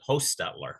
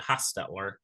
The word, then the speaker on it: Hochstetler: I pronounce it in our family line, pronounce it Hochstetler with a long O. But it's spelled 4 or 5 different ways. Some people pronounce it Hochstetler. Some people pronounce it Hochstetler with a D.